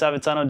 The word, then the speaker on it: Avezzano: I believe it's Avezzano. Did I get it right? Notes say yes.